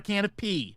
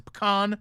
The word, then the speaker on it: pecan: We are going to move on to the often mispronounced pecan. It's not a can of pea, okay? It's a pecan pie.